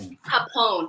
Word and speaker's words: Phaphon: It's Phaphon. I know you said Phaphon earlier.